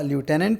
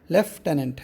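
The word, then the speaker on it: lieutenant: Spelling ہے لیفٹیننٹ کے، American تلفظ اس کا لیوٹیننٹ ہے، اور برٹش تلفظ جس کو ہم بھی فالو کرتے ہیں وہ لیفٹیننٹ ہے۔ لیفٹیننٹ کا اصل جو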